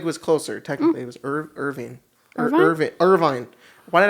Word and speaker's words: Irvine: no actually craig was closer technically it was irving or irvin irvine why did i say it like that what the is wrong with me irvin yeah it was in irvine california 1962.